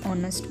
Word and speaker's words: honest: An honest boy, an hour. First letter H is a silent letter.